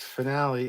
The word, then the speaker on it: finale: Melissa says, finale is fine in music, both from Latin and Italian. The E has a long E sound.